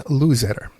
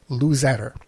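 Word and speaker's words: Luzadder: It's a shame at the end we got this audio problems here, but we've been talking to Dan Luzetter.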